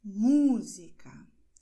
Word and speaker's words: música: Portanto, você dirá música, perdão, metrô. Perceba que eu estou destacando a sílaba onde está esse acento. E essa é uma regra